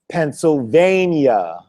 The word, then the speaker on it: Pennsylvania: But when you have PENNSYLVANIA, that is pronounced Pennsylvania. But there's no Y at the end of the word in Pennsylvania. When you hear the Y, the Y is earlier in the world.